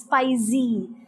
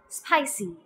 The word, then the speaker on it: spicy: pronounce this word as spicy that is they tend to use a z sound well that is wrong you would have to pronounce it as spicy next word necklace some